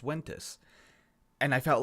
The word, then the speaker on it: Ventus: correcting people saying no it's not pronounced ventes it's pronounced Wes and I felt like